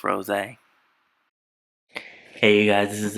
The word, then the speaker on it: Rosé: Yes, I know her name is pronounced Rosé.